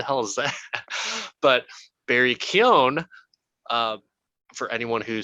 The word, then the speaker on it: Keoghan: So Barry Kagan, Barry Coogan. My wife, who's Irish, is like, oh, it's Barry Keoghan.